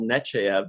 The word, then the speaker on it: Nechayev: but I said no I just call her Admiral Nechayev because that's what Picard calls her most people call her Nechayev she's in deep in